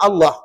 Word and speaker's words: Allah: ini tadi atiullah maka nama Allah tu dibaca apa tebal tebal dan tebalnya pada nama Allah itu adalah pada sebutan lam kerana pada ejaan Allah itu ada alif lam lam ha jadi lam di sini spesal pada sebab pada nama Allah maka kena baca te tebal begitu juga dengan ra